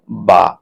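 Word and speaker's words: باء: আপনি দুই ঠোঁট বন্ধ করবেন এবং স্বাভাবিকভাবে খুলবেন, এবং হালকা আ আওয়াজ করবেন, তাহলে যে অক্ষরটা উচ্চারণ হবে সেটাই হলো বা।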